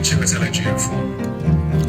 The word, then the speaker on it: Chiwetel Ejiofor: I am Chiwetel Ejiofor.